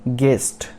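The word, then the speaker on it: guest: उसके बाद गेस्ट, गेस्ट मतलब अतिथि, गेस्ट, इसमें भी यू साइलेंट है।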